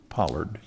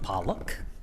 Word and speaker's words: Pollock: D008, application by Pollard. It's Pollock. Pollock? Yes. And it is spelled correctly, and I've mispronounced it, Mr.